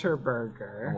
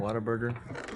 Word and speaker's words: Whataburger: Waterburger. Whataburger. What's a Waterburger? Whataburger. Waterburger. Whataburger. You're mispronouncing water.